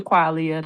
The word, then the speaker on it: Quaglia: Hi, I'm Qualia. The G is silent.